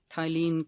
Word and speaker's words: Kyle: Captain Kale, okay, but I know it's not Captain Kale. It's Kale, I don't know how to say the surname, but it's Kylene CPT is the Instagram handle. It's Kyle Gooch.